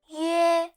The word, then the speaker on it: 约: 约 is a compound vowel composed of u and e, pronounced as yue. Again, yu, e, yue, yu, e, yue.